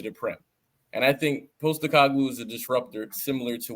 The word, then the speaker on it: Postecoglou: I think that Postecoglou, did I say his name right?